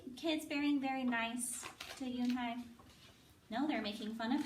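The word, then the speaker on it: Unhei: "Yunai," said the girl. "One?" the girl asked, scrunching up her face. Oni? Some kids chanted. No. It's spelled U-N-H-E-I. It's pronounced Yoon-hai.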